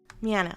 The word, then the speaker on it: Miano: to introduce you dr david miano did i pronounce it correctly with an m miano okay cool um and you are an ancient